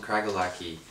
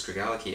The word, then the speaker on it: Craigellachie: space that region called kragle aqui Craig aliquis sorry very common way of mispronouncing but i think it's greg allah ki and this is a